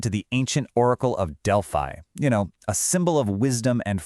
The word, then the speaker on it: Delphi: And by the way, it's pronounced Delphi Technique.